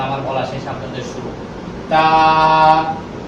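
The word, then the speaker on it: ت: তা তা তার উচ্চারণ হচ্ছে জিহ্বার আগা সামনের উপরে দুই দাঁতের গোড়ার সঙ্গে লাগাইয়া চিকন আওয়াজ দিয়া একালিক টেনে বলতে হবে।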